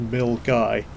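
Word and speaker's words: Milngavie: of tunnels to the milgai water treatment works on the outskirts of glasgow incidentally mill guy is spelt m i l n g a v i e but apparently it's pronounced mill guy which was news to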